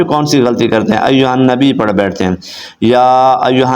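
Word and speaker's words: أيها النبي: النبی نہیں پڑھتے تو ایھا النبی پڑھیں گے تو غلط ہو جائے گا ایھا النبی اس کے ہجے کیسے کریں گے حمزہ یا زبر ای یا پیش یو ایو ہا نون زبر ہن ایھن نون زبر نا ایھن با یا دربی یا پیش یو کیا بن گیا ایھا النبی آگے پڑھیں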